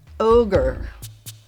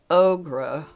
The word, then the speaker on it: ogre: And I can say safely since I have a PhD in fairy phonetics that the word is pronounced ogre, not ogra.